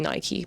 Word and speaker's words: Nike: Like, that's one of the biggest names ever and people still are not sure, even though it is actually Nike because I listened to the audiobook Shoe Dog, thank you very much.